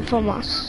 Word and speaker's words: FAMAS: All I got is the FAMAS. Ain't that how you say it? Yep, the FAMAS.